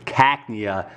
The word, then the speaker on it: Cacnea: here and keep everything organized and the correct pronunciation for that was Cacnea dummy alright next is gonna be evolution let's